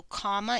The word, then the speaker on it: comma: a state of unconsciousness so comma is a two syllable word that breaks between those M's and you have comma comma use a comma between